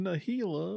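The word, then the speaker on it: Najeela: the njila it's pronounced nahila with a J is pronounced like a h anyway we're taking it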